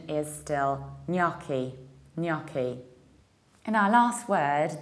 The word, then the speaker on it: gnocchi: York a although I first Americans have said naki by this super Kirk pronunciation is still knocky knocky in our last word that means a